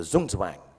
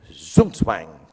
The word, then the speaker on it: Zugzwang: Then there's what they call, I don't know how to pronounce it, but sounds very cool, the Zugzwang.